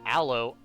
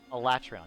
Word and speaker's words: Alatreon: Not Aloe, Alatreon. Yeah, Alatreon. A-L-U-T-R-E-O-N. Alatreon.